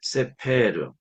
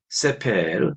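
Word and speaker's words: סֵפֶר: 뭡니까 평화라는 뜻이 되겠습니다 세 번째 단은 세페르 책이라는 뜻이죠 그리고 첫 번째 엑센트가 있다는 것이 특징입니다 세페르 책 그다음 단어는 보케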